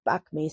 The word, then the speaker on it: bakmi: used to make, or the bami, or the it's like I pronounce like bakmi, so bakmi, and then like chicken some more.